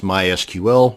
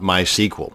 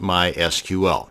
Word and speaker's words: MySQL: to create a mysql database and yes it's pronounced mysql not my sequel so the next time you're at a dinner